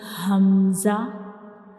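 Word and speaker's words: ء: And how we pronounce hamza? Like ha, we will read hamza, we pronounce hamza from the bottom of the throat.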